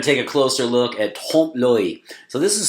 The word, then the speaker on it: trompe-l'oeil: So we're going to take a closer look at trompe-l'oeil. So this is spelled Trompe L'Oeil. So it looks like Trumpy loyal. Nothing to do with President Trump, okay? Trompe-l'oeil.